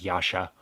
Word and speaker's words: Yaksha: just referred to as yasha and they pronounce it as such so the k is silent i don't i'm not